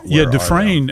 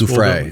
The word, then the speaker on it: Giuffre: And I think that even If there's so many of them, yeah, where Dufresne actually, is that how you pronounce her name? Virginia Roberts? Giuffre.